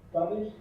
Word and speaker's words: Spanish: Spanish. Yes, very good. Because there's no E here, right? There's only an S. So we pronounce the S. Spanish, stop, school.